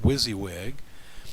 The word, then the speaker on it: WYSIWYG: down you'll see that wisy wig what it stands for it's an acronym for what you see is what you get pronounced wizzywig and what it does